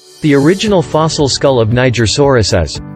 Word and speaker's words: Nigersaurus: from ct scans name nigersaurus pronounced niger soros named by sereno beck